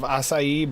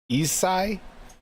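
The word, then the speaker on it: açaí: to get me going it looks like some version of asai but it's isai isai yeah akuri Bliss it's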